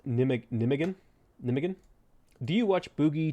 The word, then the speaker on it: Nijmegen: Nijmegen is pronounced Nijmegen.